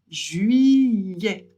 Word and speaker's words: juillet: ET à la fin d'un mot, ça fait toujours donc on prononce juillet.